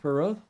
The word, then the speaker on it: Pirot: Is that how you pronounce that in French, Pirot? Yes.